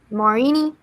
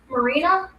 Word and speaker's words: Marina: So, congrats to Marini Marby. Is that how you say it? Marina.